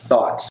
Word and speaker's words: thought: Thought. El final es T normal. Thought. Se pronuncia la T al final.